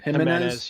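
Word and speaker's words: Jiménez: a cromby you have Jimenez is that how you pronounce it himene yep Jimenez R Scott Baker and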